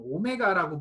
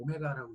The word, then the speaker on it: 오메가: 이건 오메가라고 불러요. V하고 오메가예요. V하고 W라고 읽지 마세요. V하고 오메가라고 읽으세요.